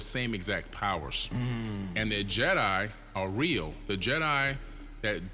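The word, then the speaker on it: Djedi: ancient Kemet okay and they're spelled d j e d i Jet and they're pronounced Jedi and he took that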